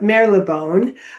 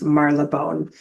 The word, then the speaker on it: Marylebone: I call it Marylebone, but its actual pronunciation, according to the taxi drivers, is Marylebone.